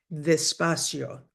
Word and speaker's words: despacio: The D sound is a the. Despacio. We don't have hard Ds or Ts in Spanish.